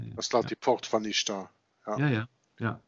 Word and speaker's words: Ishtar: Dat staat die poort van Ishtar. Ja. Of Easter, zoals we eigenlijk zouden moeten zeggen. Ja. Ja. Ishtar wordt het geschreven, hè? Ishtar. Ja. Maar het wordt Easter uitgesproken.